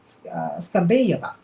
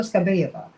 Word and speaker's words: Skabeyeva: Russian television anchor, I wish I could pronounce Skabeyeva, there you go, Olga Skabeyeva, who is, some people describe her as a